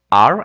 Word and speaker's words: are: Ejemplo: am, are, aquí le falta la e, pero recuerda que la e no se pronuncia, y después is.